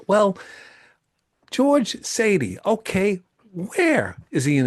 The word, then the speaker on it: Saadi: We're doing a Zoom interview with my friend George Sadi.